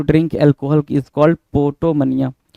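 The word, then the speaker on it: potomania: अगला है 11 number 11 number कह रहा पोटो मनिया पी ओ टी ओ एम ए ए आई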